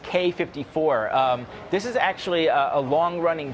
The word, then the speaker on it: Quai 54: one what is it the quai 54 for Kawhi Leonard no I think it's actually pronounced K 54 this is actually a